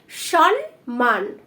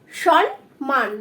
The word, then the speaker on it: সম্মান: অনেকে এটা ভুল করো, এখানে বলো কি সম্মান, সম্মান বলো, বাট এটা কিন্তু সম্মান নো ফ্রেন্ড, এটা হবে সম্মান, সম্মান। দেখো বানানটা লিখছি দন্ত স, ন যুক্ত ম ফলায় আকার এবং ন, সম্মান।